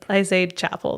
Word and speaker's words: Chappell: It's, I say Chappell.